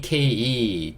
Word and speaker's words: take: 자, 이번엔 take. t는 무슨 소리 나죠? 그렇죠? t 소리. a는 여전히 a 소리. 그 다음에 k는 키읔 소리. e는요 묵음. 그러니까 여기도 크 소리로 끝나겠죠. 자, take 이렇게 읽을 수 있고 좀 크게 적어보면 ta가 그렇죠.